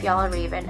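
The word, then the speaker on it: Fjällräven: Oh, so yeah, if you're wondering, the pronunciation is Fjallraven Kanken. That's how they pronounce it.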